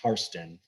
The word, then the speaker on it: Hairston: the immigrant who was the original hairston pronounced hearthstone by the scottish and um immigrated over